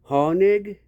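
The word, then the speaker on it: Hoenig: It's pronounced Hornig, but it's spelled H O E N I G.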